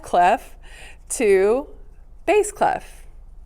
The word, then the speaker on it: bass: transition the name from bass clef sorry f clef to bass clef not bass bass is how that's pronounced so bass clef and